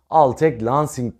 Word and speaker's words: Altec Lansing: al tek markasına ait al tek lansing diye okunuyor Sanırım bir klavye ile